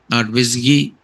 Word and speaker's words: WSGI: So web server gateway interface the web server gateway interface pronounced as what visi whiskey is a simple calling convention from web servers to forward a request to what your web application.